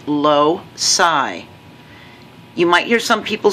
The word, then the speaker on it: loci: the plural and it's low psi you might hear some people say low chi but ci generally says like in city circular so ci usually says